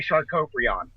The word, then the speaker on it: Sharkoprion: That is the correct pronunciation. I like to say Sharkoprion.